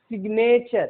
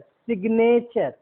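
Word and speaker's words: signature: का उच्चारण नहीं होगा, लेकिन शब्द के बीच में हो तो इसका उच्चारण होगा।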